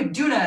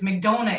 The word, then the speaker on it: McDonough: were recording that sketch he was like jonah mcdouna and they're like no it's mcdona it rhymes like ronald